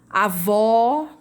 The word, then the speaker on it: avó: O agudo, ele indica a sílaba tônica, né? Com som aberto. Céu, ele é aquele som aberto. Avó.